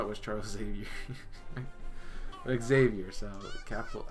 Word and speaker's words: Xavier: But Xavier, so capital X, got it. If I don't say the X, then I'm not saying it right. Got it. It's not a silent one.